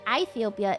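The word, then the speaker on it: Aethiopia: Ethiopia is the land sailing of Greek Ethiopia. It's a diff thong. I is pronounced like short E, so it would still be Ethiopia.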